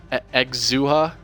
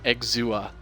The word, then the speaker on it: Exousia: in the chance uh exuha it okay it's pronounced exua okay exuber okay got